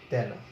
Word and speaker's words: তেনা: যেমন তুমি একটা শব্দ দেখো তেনা, এই পুরানো কাপড়কে আমরা বলি যে তেনা কাপড়, তো এই এ ধ্বনির উচ্চারণ কিন্তু কি হয়? বিবৃত হয়, তয় জফলা আকার নয় আকার, এরকম হবে তেনা।